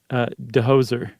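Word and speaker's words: Djoser: And this is around 2600 BC or 2600 during the time of King, is that Dozer? That's how I take it. J is silent, right? Dehoser.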